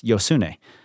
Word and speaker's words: Josune: how you pronounce it well I found her saying it so it's yosun that's how she says it just in case you